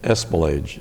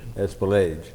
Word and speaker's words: Espelage: if you would, what is the correct pronunciation of your last name? Espelage. Espelage.